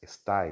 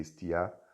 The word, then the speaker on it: estai: Autu, dele, Iná, afinque, estiar, deixa eu riscar essa palavra aqui, estiar, aliás, estai, né? Estai aqui, eu coloquei, falei isso, pronunciei estiar, mas é estai.